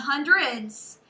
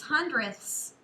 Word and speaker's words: hundredths: five hundredths and remember it's not hundreds it's hundredths with a ths 35 hundredths okay so